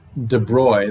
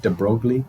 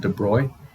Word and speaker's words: de Broglie: mathematical idea combined with de bruy that's how you say his name it looks like de broglie it's called de bruy he brought in the